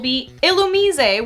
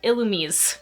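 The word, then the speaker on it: Illumise: dot Nuzleaf shiftry nose pass Plusle minin vul ilum which is apparently how that's supposed to be pronounced I didn't know that until like two days ago I've been pronouncing it ilum for the longest time trap hinch VI braa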